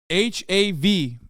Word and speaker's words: hav: of a difference but hav is how you say the bark in Turkish Bonita ah yeah yeah